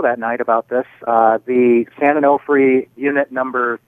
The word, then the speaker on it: San Onofre: So there's this nuclear power plant at San Onofre. Am I pronouncing that right? Yeah, San Onofre.